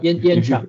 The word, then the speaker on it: Yen-Chia: If Yen-Chia, is this the correct way to pronounce the name? Yes, Yen-Chia, yes. Yen-Chia, thank you.